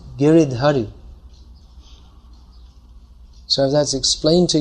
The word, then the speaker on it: Giridhari: If I say, someone might explain, actually it's not Giriyai, it's Giridhari.